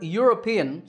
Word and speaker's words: European: number eight is similar the word European starts with a yeah sound so a European tour